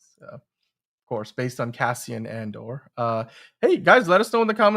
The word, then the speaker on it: Andor: Andor is great, although it's spelled with an A, movie spud, but that's Endor is the moon that Return of the Jedi took right. place on. Yes. It's Andor.